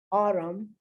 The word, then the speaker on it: autumn: homophone damn and when you say damn girl autumn column notice i'm not pronouncing the end at all mean this is